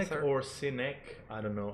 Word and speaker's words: Sinek: Great Sinek author. or Sinek, I don't know. I just like the pronunciation Yeah. Sinek because it sounds like a cynic.